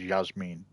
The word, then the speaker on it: Yasmin: writing this post okay you pronounce it as Yas Meine that's fair enough some already know the